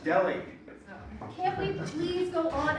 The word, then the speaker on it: Delhi: That's because you're not saying it right. You're not pronouncing the H. It's Delhi diamond. Oh, Polly, no. No, it's a silent H. It is pronounced Delhi.